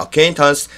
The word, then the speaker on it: acquaintance: 알고 지내는 사이야 하니까 acquaintance. 근데 어 발음도 굉장히 약해져서 old acquaintance 이렇게 해도 됩니다. 어 발음이 굉장히 약해져요. 들어보세요. See, Maggie and I are old acquaintances.